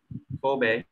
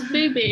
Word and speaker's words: Phoebe: So, Kobe. Kobe. Kobe. It's Phoebe. It's Phoebe. Bobby. Yeah. Not Bobby.